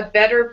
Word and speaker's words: better: Let's say a brand new maw, a better paw. Brand new maw, a better paw. Mm-hmm. And then with better, T turns into a D.